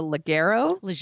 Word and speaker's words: Leggero: And then actress Natasha Leggero, actually. I think it's a soft G.